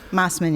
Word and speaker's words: Mosman: Do you pronounce it Mosman? Mosman, yeah.